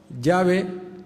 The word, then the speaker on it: llave: y se dice llave Pero cómo se dice en el castellano de Argentina no se dice llave nadie escuchará llave en Argentina no sabe ni lo que es y uno dice el llave en Argentina si dice llave con una casi x catalana no como Xavi o llave qué es lo